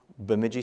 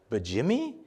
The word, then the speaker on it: Bemidji: Bemidji State University. And they're like, Bajimmy? What? They couldn't pronounce it, you know.